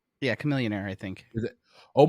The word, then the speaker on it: Chamillionaire: A Millionaire right yeah Chamillionaire I think is it oh my god I've been saying his name wrong since that song came out it's not Char millionaire it's Chamillionaire okay I I might